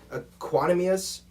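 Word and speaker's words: Equanimeous: receiver position they have equanimius saint brown i hope i said that right i looked before the show to make sure i could pronounce it right it was actually him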